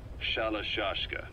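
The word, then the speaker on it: Shalashaska: end of sure aashka the guerrillas were using the name amongst themselves by the time I got to hearing about it pronunciation had wound up as shallow juska so half gulag have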